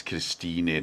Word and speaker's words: Christine: Don't forget it's Christine Dowd. She pronounces the E, but it's spelt Christine.